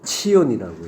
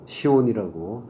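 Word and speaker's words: ציון: 시온산, 예, 하르 치온이라고 해요. 하르가 이제 산이죠. 예, 치온을 이제 우리식 발음으로 시온이라고 부르는 거죠.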